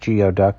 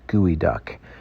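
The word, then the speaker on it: geoduck: from the Pacific Northwest the gooey duck it's not pronounced geod duck it's gooey duck they are all farmed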